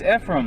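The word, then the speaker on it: Efraim: No, it's Ephraim. It's like A-frame.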